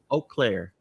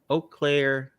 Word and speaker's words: Eau Claire: have a family and uh how do you pronounce it again you close earlier eau claire yep okay eau claire uh in wisconsin yep hello wisconsin bet everybody